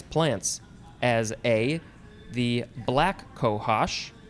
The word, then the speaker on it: cohosh: right next is cohash c-o-h-o-s-h noun from 1789 any of several north american medicinal or poisonous plants as a the black cohosh i guess it's cohosh i want to say cohosh but it's kohash b the blue cohash